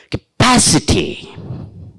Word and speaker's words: capacity: also along with that so i t y words third syllable from the last isn't it third syllable from the last there the stress should be beautiful beautiful give